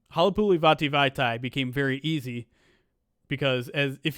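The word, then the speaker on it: Halapoulivaati Vaitai: my name bracket posts, you can say Halapuli Vati Vaitai's name to the song Play That Funky Music White Boy, and it works perfectly.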